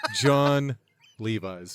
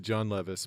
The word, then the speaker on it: Levi's: And people who are not in the know will pronounce it John Levis, but it's clearly John Levi's.